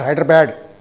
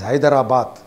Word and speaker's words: Hyderabad: Delhi is Delhi, not Hyderabad. It is Hyderabad.